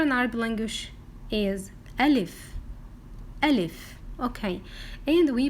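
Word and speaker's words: ألف: Okay, so we pronounce letter Alif like A or U or E.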